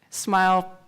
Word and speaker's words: SMIL: Yes, you can remember it's pronounced SMILE, like the smile.